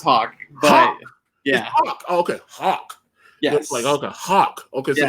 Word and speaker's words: Haack: heck hey guys yeah it's hot it's pronounced hog yeah yes hawk okay not a hack you're a hot exactly yes